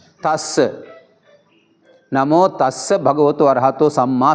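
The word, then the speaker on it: tassa: हाँ, ये दस्स कहा तो गलत है। इसको हम द के जगह पर थ लिखना चाहिए। इसलिए दस्स नहीं, नमो तस्स।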